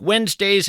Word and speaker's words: Wednesday: If you're in fact scribbling this down, Wednesday is kind of tough to spell. It's not like it sounds. You want to spell it W-E-N-Z, but that, of course, would be a mistake.